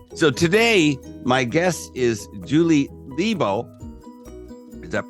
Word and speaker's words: Julie Lebow: So anyway, so today my guest is Julie Lebow. Is that pronounced correctly?